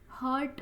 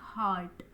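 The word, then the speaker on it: heart: अब ये हर्ट होता है, एक होता है हार्ट, इसको हम बोलते हैं, जो दिल होता है हमारा उसको हम हार्ट बोलते हैं, ना कि हर्ट।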